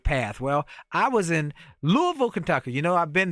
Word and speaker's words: Louisville: Well, I was in Louisville, Kentucky.